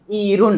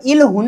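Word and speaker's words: 이른: क्या होनी चाहिए उच्चारण? इरून। क्या? इरून होनी चाहिए। अब इलुन नहीं है। कतई नहीं है इलुन।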